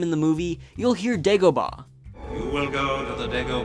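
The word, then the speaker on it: Dagobah: to the name in the movie you'll hear deoa you will go to the DEA Systema system we're going to the DEA system yeah that's it dgaa but the official name of the planet is pronounced dagoba either way works but spelling is key deoa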